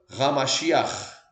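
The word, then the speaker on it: המשיח: Então é Yeshua HaMashiach. Exatamente a pronúncia. Yeshua HaMashiach.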